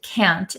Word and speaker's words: can't: and can't so uh a lot of Americans don't pronounce the t's at the ends of words so can can C an can and can't we often say can't can't can can't um usually it's really understandable